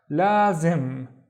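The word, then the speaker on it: لازم: The first syllable is basically la, long because of the alif. La, and then the second syllable is zim. Zim, we have the magic wand in here. Lazim.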